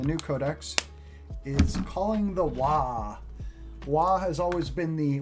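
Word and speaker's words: Waaagh: codex is calling the wah wah has always been the orc battle cry and it's kind of a joke battle cry but because wah is the orc spelling and pronunciation of war so they're they're trying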